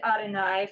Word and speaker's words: Adonai: units together that word although it doesn't read adonai phonetically that is how we pronounce the word is everyone familiar with